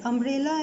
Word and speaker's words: umbrella: Now see, umbrella and university both starts with the letter U, but their pronunciation is very different. Umbrella starts with the a sound, that's a vowel sound.